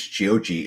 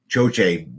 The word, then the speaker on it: Choche: B was reminding me how to pronounce it because Chiochi is what I would always say, but Choche, B has it written down, and when you popped up, she pointed me to it.